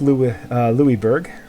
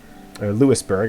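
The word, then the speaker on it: Louisbourg: England Albany Maine took louie-louie Berg Lewisburg I should say since that's how the English speakers there pronounce it took Lewisburg from the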